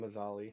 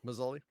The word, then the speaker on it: Mzali: i've always found i'm i've always pronounced it mzali is that i've been saying masali so masoli okay uh i've always found